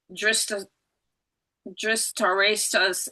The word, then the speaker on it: Dhritarashtra: ahead to probe King Dhritarashtra's intentions. I didn't say that right. How do you say that? Dhritarashtra.